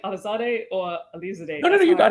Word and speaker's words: Alizadeh: right now, let us know, because I'm like Alizadeh or Alizadeh. No, you got it. Alizadeh.